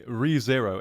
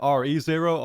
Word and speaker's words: Re:Zero: and it is called, apparently, ReZero is how I should be pronouncing it. I literally had to look it up because I was inclined to have said RE0 otherwise, although that kind of reminded me of Resident Evil.